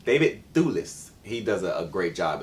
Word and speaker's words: David Thewlis: David Thewlis.